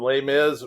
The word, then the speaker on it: Les Mis: Miz love l m and lay Miz rhymes with another one of your favorites Grizz go Grizz absolutely the